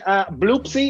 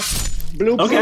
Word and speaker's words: Bloopsy: Okay, Bloopsy is the name of my robe. Bloopsy is spelled with two zeros, not O's, and there's not an E.